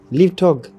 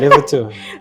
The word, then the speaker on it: Lève-toi: Well, it's actually a French word.